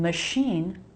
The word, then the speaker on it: machine: Look, we have the SH sound twice. Once it's spelled with an SH and in machine with a CH.